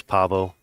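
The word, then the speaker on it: Paweł: You Yeah, see how it's Pavo, pronounced in Polish.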